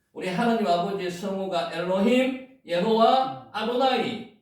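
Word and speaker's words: יהוה: 예자 발음 나옵니까? 예호와라고도 기록을 하고 예호와. 여기 위에 점이 하나 있으면 호 발음이죠. 예호와.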